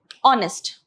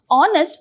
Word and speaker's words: honest: like for example uh honest okay honest though it starts with a consonant okay this is silent so the vowel sound only has to be considered okay it's honest not